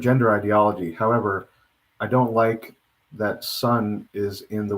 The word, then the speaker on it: le: instead of saying he or she, would be Li, and that's spelled L-E.